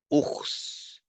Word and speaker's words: ours: These are the exceptions where the last S is pronounced. There are a bit more than this, but the list is limited, right? So it's exhaustive, right? You can find the list online. For example, bus, tennis, Mars, ours, virus, sens. You have to pronounce the S for these words.